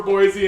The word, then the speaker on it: Boise: second syllable I say Boise we both agreed the the end is like a z like Boise we both agree or